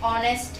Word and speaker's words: honest: Like second one is, he is an honest man. Honest. Honest. Okay? Here also this H is pronouncing silently.